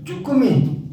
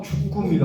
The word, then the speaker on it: 주꾸미: 꼼장어, 쭈꾸미 많이 쓰죠. 근데 뭐가 답이에요? 곰장어, 주꾸미가 맞아요. 주꾸미.